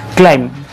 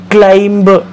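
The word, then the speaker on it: climb: जो इंग्लिशमध्ये क्रियापद आहे त्याला आपण म्हणतो क्लाइम. काय म्हणतो? क्लाइम. पण बऱ्याच वेळेला असं होतं की याचं स्पेलिंग बघा, आणि या स्पेलिंगमुळे असं होतं की आपल्याला वाटतं की याच्यामध्ये बी लेटर आहे, सो बी हा साऊंडसुद्धा येत असावा, आणि बऱ्याच वेळेला आपण क्लाइंब असं म्हणतो, पण ब हा साऊंड नाही, ब हा सायलेंट आहे.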